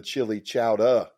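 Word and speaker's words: Chillicothe: It was me and a bunch of outlaws, and we were at the Chili Chowder. That's how they pronounce it there.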